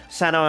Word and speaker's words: Cyno: bit of law but that's why I pronounce it that way Sano and kandake I'm trying